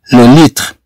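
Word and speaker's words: le litre: هاد التي ار او تقرا تخ لو ليتر. ما غاديش تجي نطقو لو ليتر. اذا نقراو لو ليتر كأنها تنطق كالخاء. أد إغ لو ليتر لو ليتر.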